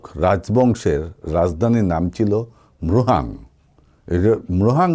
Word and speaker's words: মৃহাং: মৃহাং নামটাও উচ্চারণ করতে বেশ কষ্টসাধ্য। তো আমি বানান করে আপনাদেরকে বলছি, ময় রফলা ওকার হয়কারে হা আর অনুষ্কার, এই মৃহাং।